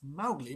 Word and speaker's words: Mowgli: So you guys may have noticed that I pronounced Mowgli as Mowgli, but I read the thing that Rudyard Kipling himself wrote about how to pronounce the names.